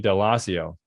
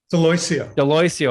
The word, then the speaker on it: Daloisio: And a great example of that today is Tony Daloisio. Did I say it right? Daloisio. I got it wrong.